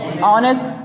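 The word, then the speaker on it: honest: हम बात करें तो हो एन ए एस टी क्या हो गया ऑनेस्ट ऑनेस्ट में क्या ए जाएगा अयान क्योंकि ह आपका साइलेंट है कुल मिला है क्या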